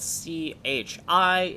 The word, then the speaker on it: chi: looks like this letter even though it's spelled c h i is pronounced chi which is why i